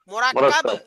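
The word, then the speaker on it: مركب: এটা বইলা এখানে বানান করাবেন মিম র কাফ বাবা বা টান দিবেন মিম র কাফ বা র কাফ বা মরাকাব মরাকাব শব্দ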